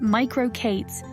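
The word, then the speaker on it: MicroK8s: the use of JuJu merco k8s pronounced micro Kates also known as micro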